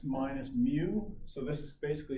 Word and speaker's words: mu: so suppose we have a mean mu that's pronounced mu it's spelled mu u of 40 and a